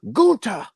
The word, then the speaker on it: Gunther: there and he goes they say it's gunther imperium and he goes it's pronounced gunta like he's trying to